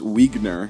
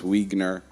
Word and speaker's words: Wegner: from our friend Bruce Wegner he said his last name is pronounced like wiener but with a G um he's a producer